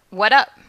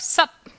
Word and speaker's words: What's up: Note that the pronunciation of what's up can vary. We may hear what up without the S, like this. Hey. What up? Or we may hear the even shorter version of sup, like this.